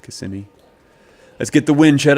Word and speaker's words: Kissimmee: It's actually Kissimmee, I think is how it's pronounced. Kissimmee.